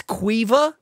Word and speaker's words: Caoimhe: So I'll spell it in. What? Yeah. Caoimhe? Yep. That's Cuiva?